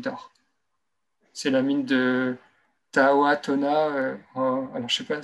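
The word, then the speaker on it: Tautona: C'est la mine de Tahoatona. Alors, je ne sais pas si je dis bien, ou Totona. C'est T-A-U, Tona, comme ça se prononce.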